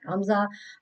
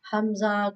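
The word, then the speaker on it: همزة: But Hamza, Hamza, Khada Zabar A, Hamza, Khada Zabar A. This is pronounced like this, bottom part of the throat.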